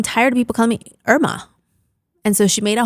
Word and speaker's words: Irma: And her name is Irma, it's not Irma, And so she came and we did that in person, actually.